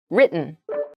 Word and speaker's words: written: we use written instead it sounds more like a D sound almost so the T sound is very soft when you're speaking try